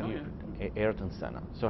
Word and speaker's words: Ayrton Senna: Am I pronouncing that? How do you? Ayrton Senna.